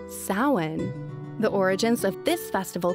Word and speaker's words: Samhain: The proper pronunciation is actually Samhain.